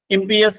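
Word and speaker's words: impious: എഴുതിവെക്കുന്നത് നന്നായിരിക്കും ഇത് എം പി എസ് എന്നാണ് അതിന്റെ ഉച്ചാരണം ഇംപിഎസ് എന്ന് പറഞ്ഞാൽ ദൈവവിചാരമില്ലാത്ത പ്രിയ എസ് അല്ലാത്ത അൺഗോഡ്ലി നെക്സ്റ്റ്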